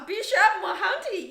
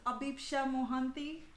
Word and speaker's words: Abhipsha Mohanty: introduce you a bit so the correct pronunciation is abisha mohanty i can totally pronounce